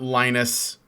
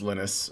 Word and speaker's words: Linus: It's not Linus, it's Linus or Linus.